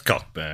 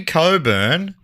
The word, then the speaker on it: Cockburn: Now I know I know how that should be pronounced but come on. Come on. That's Cockburn. Let us live here. It's Cockburn. Come on. If you want it to be Cobburn, spell it differently.